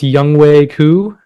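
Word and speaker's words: Younghoe Koo: And uh, I think it's Youngwei Koo.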